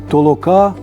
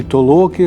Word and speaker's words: толока: вихованець Ярмоленко Сологуб Щербатюк Каже таке толока толоки і толоки толок толока толоки толо толоки тобто дає два наголоси і знов каже гуртова